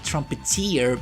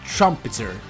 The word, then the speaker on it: Trumpeter: trumpet Trumpeter and I I always pronounce it like trumpeteer and it was wrong because I now I I actually listen to the to gong lines and is Trumpeter so sorry for all